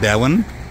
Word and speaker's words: Devon: ये है शिकागो की ये दीवान एवेन्यू स्ट्रीट है। एक्चुअली है डेवन, देखो ये है गांधी पार्क, है ना?